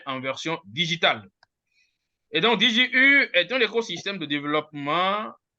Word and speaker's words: DigiU: que la prononciation disons la meilleure prononciation française c'est dit J u donc pour dire digital you qui me dit tout simplement l'être humain en version digitale et donc DJ U est un écosystème de